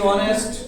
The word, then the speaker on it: honest: इसमें an article आएगा, HONOUR honour, HONOURABLE honourable, ठीक है, ऑनरेबल, HONEST ऑनेस्ट, और HOUR और HEIR, ठीक है। इनमें एक्स साइलेंट होता है।